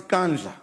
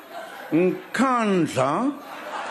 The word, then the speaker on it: Nkandla: You know, some people who could not pronounce Kantla, they've now learned Nkandla, Nkandla, Nkandla, hey, hey, hey.